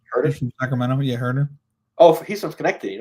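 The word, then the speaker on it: Kevin Huerter: Yeah, Herter.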